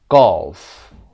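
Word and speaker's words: golf: گالف one syllable.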